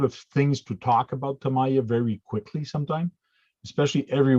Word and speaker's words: Tamiya: nice to everybody so and try not to pronounce it sorry yeah he knows it's tamaya uh i started tamaya tuesday basically with just